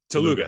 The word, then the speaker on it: Telugu: Telugu.